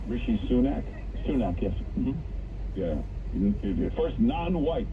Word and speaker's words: Sunak: Sunak, yes.